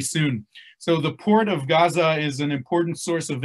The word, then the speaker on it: Gaza: right uh uh term in hebrew we say aza with an a but it's really a a sound that doesn't exist in hebrew or in english uh but anyway it's gaza is the correct pronunciation and during the the